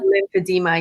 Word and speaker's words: lymphedema: Ayanna imparts her personal experience becoming a world renowned performer despite an ongoing battle with, now, how do I pronounce this properly? Lymphedema? Lymphedema.